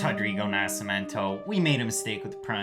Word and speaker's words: Nascimento: It's Rodrigo Nascimento. We made a mistake with the pronunciation.